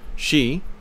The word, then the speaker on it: Xi: Xi, again pronounced like she, has done more in less time, with less violence, than any other man that I know of.